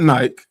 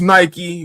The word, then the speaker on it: Nike: a little crazy because the term is Nike, and for whatever reason, people in the UK don't like to pronounce certain vowels or letters or things like that. And I'm just like, it's not Nike, it's Nike.